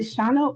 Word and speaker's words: Sean: Um I think uh is it Shauna or how do you say your name? Yeah. Yeah. Sean is correct.